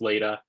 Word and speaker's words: Leda: name is Leda I get Lada a lot so um but it is pronounced later um it's okay if